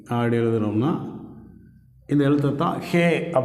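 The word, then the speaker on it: ה: அடுத்த எழுத்தை ஹே என்று உச்சரிக்கிறோம்.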